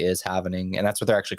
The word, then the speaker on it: halvening: It's literally spelled like HALVENING. Yeah, it's like happening, but it's the having is happening. So it's the happening. Or it's evening.